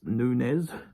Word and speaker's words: Nunes: versus werson Nunez um it spelled like noones but it's I actually wrote a note saying pronounced Nunes uh via unanimous decision